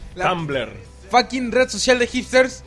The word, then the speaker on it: Tumblr: Trumbull. ¿Cómo se dice? Trumbull, ¿verdad? Tumble. ¿Tiene R o no tiene R? Trumbull. ¡Ah! Tumblr.